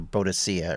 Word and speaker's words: Boadicea: It was, I think, the British Victorians called her Boadicea originally.